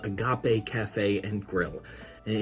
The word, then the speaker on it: agape: a definition of what Agape means CU it looks like the English word Agape AG g a p